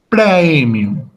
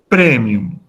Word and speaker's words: praemium: Por ejemplo, el diptongo AE, como en la palabra praemium, en la pronunciación clásica se pronuncia el diptongo completo, AE. Por lo tanto, esa palabra en latín clásico se pronuncia como praemium. Pero en la pronunciación italiana o eclesiástica se pronuncia como E, es decir, premium.